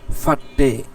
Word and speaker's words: फटे: উচ্চারণটা ভালো করে দেখি, শব্দটা ফাটে কেমন? ফাটে, পের এর পর হলো হা, হাটা ভালো করে হবে না, হালকা উচ্চারণ হবে।